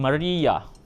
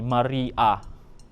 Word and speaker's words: Maria: The name Maria, so it's pronounced ending with an YA. So that's how we spell it. So Maria with a YA.